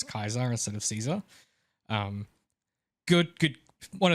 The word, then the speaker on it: Caesar: You know, that actually is the Latin pronunciation of it, though. They don't have soft C's. Oh, I didn't know that. Yeah. So in like supposedly in Latin it would have been Kaiser.